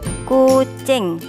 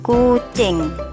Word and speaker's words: kucing: Jawa hewan ini disebut kucing tulisannya kucing i-nya dibaca e jadi kucing tasih semangat sinau Nggih